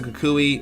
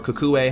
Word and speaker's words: Kukui: we also meet Lily, Professor Kukui, or Kukue, how you want to pronounce his name, and we also meet